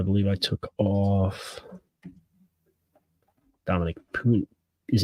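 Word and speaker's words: Puni: took off Dominic pun is it puny or puny I would guess puny puny like tiny check I have pronunciation notes if you'll give me a second I'll be happy to tell you P uni Tyron Hopper according to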